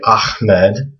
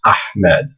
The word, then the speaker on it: Ahmed: So when you hear people say Ahmed, they're actually pronouncing it wrong. It's actually this letter that they want to try to pronounce. It's Ahmed. So this, again, is Ha.